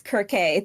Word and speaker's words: Kirke: So like people will say Cerberus, but that's not how it's pronounced. It's Kerberos, Kirke, things like that.